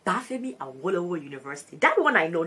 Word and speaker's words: Obafemi Awolowo: Nova Scotia, Canada, in Canada, and then in Obafemi Awolowo University. Oh, that one, I pronounced it correctly. Obafemi Awolowo University.